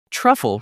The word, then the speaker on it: truffle: Make sure that "u" makes a short /ʌ/ sound, like in "cup" or "butter."